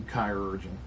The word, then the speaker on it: chirurgeon: and the kinetic chirurgeon, which it would be chirurgeon. I think, like chiropractor, and crack your spirit.